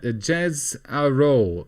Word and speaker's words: Jezero: Jez Aro.